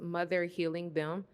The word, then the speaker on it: Mother Helium: and yeah okay so this piece is called mother helium um and it's pronounced mother healing them and it is the fourth and Final piece